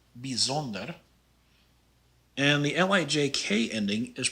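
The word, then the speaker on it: bijzonder: the first word here the ij is pronounced more like an e sound so this is pronounced bizonder and the lijk ending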